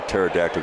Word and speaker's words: pterodactyl: why can't you hear a pterodactyl go to the bathroom because the p is silent now there's a joke